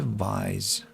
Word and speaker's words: vise: Is that the pronunciation? Vis. What? Cambridge doesn't want to tell me anything. Thinking I'm a bot. Vice vice. It's vice.